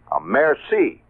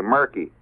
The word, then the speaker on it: merci: Or I'll say merci. That's pretty good. I just learned last year that the C is pronounced that way. I used to say murky.